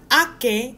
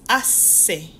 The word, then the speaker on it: hace: This is not ake, it's hace. Hace.